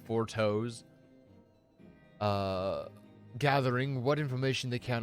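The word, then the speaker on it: Fourchenault: It's spelled Four Temps, but said Four Toes.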